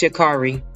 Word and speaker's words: Sha'Carri: to sound like I don't know how to pronounce her name correctly, but from my understanding, I believe it's Sha'Carri.